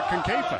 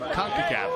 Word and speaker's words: CONCACAF: And they're doing it to Concafa. Who would have thought a mispronunciation of CONCACAF would become a song?